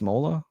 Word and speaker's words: Smola: Is it sm pronounced Smalla?